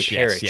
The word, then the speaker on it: Parrish: Oh, the chat's telling me that Parrish, Koi Parrish is how you say his last name.